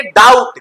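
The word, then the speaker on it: doubt: आएगा के पहले तो बी क्या हो जाएगा साइलेंट जैसे डाउट क्या है ट बी साइलेंट हो गया क्योंकि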